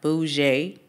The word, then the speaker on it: bougie: Bougie, pronounced bougie.